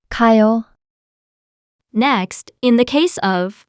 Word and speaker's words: 가요: 가, Here, is repeated. So, to make it shorter and smoother, we omit one and pronounce it like this. 가요, Next, in the case